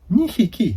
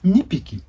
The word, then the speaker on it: にひき: Inu ga ni hiki imasu. Not the ni piki. Ni hiki.